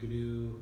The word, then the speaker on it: GNU: I pronounce the G. Some people don't. Oh, in GNU Radio? Yeah. That's how I've always pronounced it. GNOME, GNU.